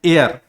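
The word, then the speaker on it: heir: तो जैसे एच ई आई आर इसको बोलते हैं एयर। हालांकि शुरुआत एच से हो रहा है। लेकिन यहां पर एच क्या है वो साइलेंट है। अब जब इसको हम पढ़ते हैं तो इसको हम पढ़ते हैं एयर।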